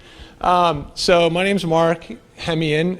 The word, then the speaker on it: Hemeon: so my name's Mark hem in is how you say my last name um a week ago